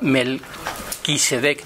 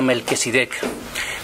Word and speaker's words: Melquisedec: Y además en en los textos de incluso hay conferencias completas de Onran dedicadas a que yo lo pronunciaba mal, Melquisedec, yo decía Melquesidec.